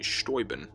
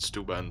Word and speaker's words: Steuben: the Baron von Steuben or as it's properly pronounced it actually stoy bin' but everyone around here calls it Steuben so I'll say that